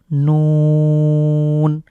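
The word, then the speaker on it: نون: উচ্চারিত হরফ এরপরে হলো নুন নুন এটাও সহজ রয়েছে আমরা এখানে নকার নু নয় রস উকার এবং দন্ত নুন এটা উচ্চারণে আমরা তিন সেকেন্ড রং করে পড়বো এরপরে ওয়া যখন ওয়া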